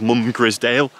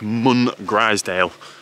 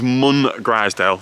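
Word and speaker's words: Mungrisdale: to the conclusion that it isn't called mum grisdale i'm going to say it's mun griezdale because there is a greysdale pike so i'm going to go with munn griezdale like greysdale pike but with a mun at the beginning i'm back to souther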